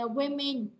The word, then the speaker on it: women: The women, nhớ là một người phụ nữ đọc là a woman, nhưng mà hai người trở lên sẽ đọc là women ha.